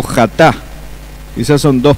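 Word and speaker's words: חטא: Entonces ahí aparece la palabra jatá en hebreo. Jatá o chatá.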